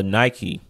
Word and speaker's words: Nike: know what it is Nike is based off of pagan deity which we going to talk more about them uh Nik what is how it would be pronounced in the Greek okay God us a